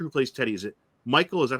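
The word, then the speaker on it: Mikkal: The actor who plays Teddy, is it Michael? Is that how you say his name? McCall.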